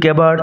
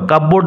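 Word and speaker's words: cupboard: They were filled with কেবার্ড and book selves, উচ্চারণ লক্ষ্য করো, কাপবোর্ড নয় কেবার্ড।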